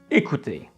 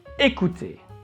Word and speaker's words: écouter: Let's focus on the first word, écouter. As you see, there is an accent on E, so the sound is E. And C is between two vowels, so we need to pronounce it as K.